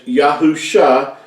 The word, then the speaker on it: Yahusha: scriptures and how we know that it is pronounced as yahusha and not all these other variations that you